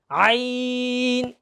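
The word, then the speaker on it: ع: জ, আইন। এই আইনটা একটু ভয়ঙ্কর। আইনটা কি অনেক ভয়ঙ্কর, কারণ আইনটা বলার সময় একেবারে কণ্ঠের মাঝখান থেকে আসে, তো একটু জোর গলায় বলা লাগে।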